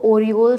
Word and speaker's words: Orel: ही university है बट इसका name अलग-अलग प्रोनाउंस शंस है जैसे ओरल स्टेट मेडिकल यूनिवर्सिटी को ही ओरिओल स्टेट मेडिकल यूनिवर्सिटी कहते हैं अगर मैं बात करती